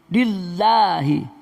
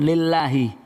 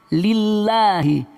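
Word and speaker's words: لله: Kemudian lillahi, bukan lillahi, didahului kasroh lillahi.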